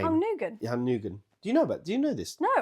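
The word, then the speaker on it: Nguyen: So, a California man bought Hung did you notice that I didn't pronounce his name? Hung Nugan. Yeah, Nugan.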